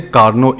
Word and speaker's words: Carnot: नाम है कार्नो engine यह छोटी है ना मोस्टली प्रनंसीएशन में यह टीम साइलेंट रहता है तो इसको करेंगे कार्नो इंजन कार्नो इंजन की स्पेशलिटी